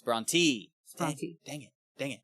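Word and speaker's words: Brontë: It's Bronte. Bronte. Dang it. Dang it. Okay. The umloud over the E means it's E.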